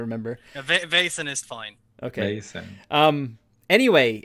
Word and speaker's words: Vaesen: I mean, look at Simon whenever we mispronounce it. If you want to go into it, it's Vaesen. Vaesen.